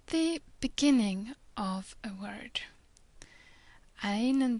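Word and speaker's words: ع: The first two letters are Ain and Ghain. Both of them are a bit difficult to pronounce. Ain is like a mixture of E and Y at the same time, almost trying to strangle yourself.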